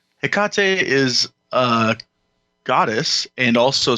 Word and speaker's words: Hecate: it although you know when i was a kid still in west virginia it was hecka tie sure that's just awesome